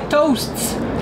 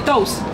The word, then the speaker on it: toasts: Je vous ai dit tantôt qu'on enlevait les syllabes finales, les consonnes, donc les toasts en anglais, beaucoup trop difficile. Nous autres, on dit des toasts, hein? Une toast, deux toasts, trois toasts.